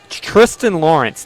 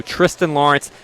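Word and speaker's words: Thriston Lawrence: And then, uh, Tristan Lawrence, 90 to1, a South African. He has an H. It's spelled Thristan.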